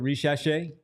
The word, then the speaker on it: Risacher: Risacher.